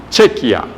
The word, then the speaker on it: Chequia: un país que llama chequia así se escribe suena como como chequea como la chequera cierto Chequea el montón de cheques chequia antes se llamaba